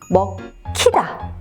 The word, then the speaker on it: 먹히다: 먹히다도 마찬가지예요. 뒤쪽에 히읗이 와서 먹히다 이렇게 발음이 되는 거죠.